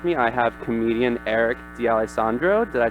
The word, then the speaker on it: D'Alessandro: special guest with me I have comedian Eric D Alessandro did I say that right yeah well as